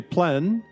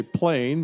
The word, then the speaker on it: plein air: outdoors or open air the French say plenn others say plain but no matter how you say it plein air or plein